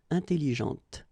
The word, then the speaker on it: atelier: this uh well actually you will pronounce the final d okay but you don't pronounce this uh here atelier okay so remember that